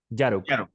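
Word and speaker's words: Jarok: Con Y, como si fuera una Y la J. Yarok.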